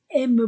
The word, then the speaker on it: aiment: Madame Vincent i Nadame Vincent et Madame le grand A m a I e la terminaison du pluriel n t ne se prononce pas. Madame Vincent et Madame Le Grand aiment beaucoup e a u o u ou la musique.